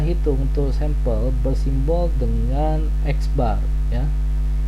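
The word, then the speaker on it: x̄: Penggunaan rata-rata hitung untuk sampel bersimbol dengan X bar ya. Ini bacanya adalah X bar, di mana ada nilai X, terus di atas nilai X diberikan tanda garis ya.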